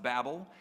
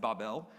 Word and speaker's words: Babel: we're going to talk about the Tower of Babel I know it's pronounced Babel many of us pronounce it Babel it's actually pronounced barbell this is the first